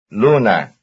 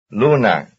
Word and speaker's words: luna: Sigo, luna. Number 31. Though X and Y are very different, their stress is the same. That is, both are stressed on the first syllable.